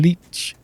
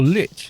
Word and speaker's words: lich: It was like the whole lich and leech thing. How do you pronounce lich? Is it leech or lich? It's lich, apparently. With a T sound.